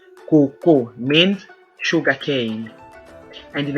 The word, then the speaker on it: koko: The same spelling, K-O-K-O, but different pronunciations and different meanings.